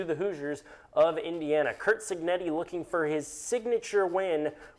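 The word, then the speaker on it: Cignetti: I can never pronounce it. Kurt Senetti. How do you say his name? Signetti.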